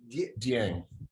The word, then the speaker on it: Dieng: Dieng.